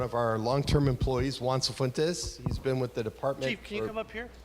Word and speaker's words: Cifuentes: Recognition and retirement of Police Clerk 2, Juan Cifuentes.